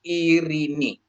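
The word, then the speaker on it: Ειρήνη: Terus ee epsilon dengan yota dia menjadi i. Jadi ini bacanya jadi irini. Irini ya.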